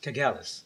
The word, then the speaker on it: Kagalis: and Kagalis.